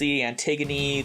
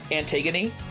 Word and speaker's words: Antigone: Antigone? Yes. Antigone, yeah. I'm like, what is this word? I'm like, Antigone. It's Greek, so it's not pronounced how you think it should be.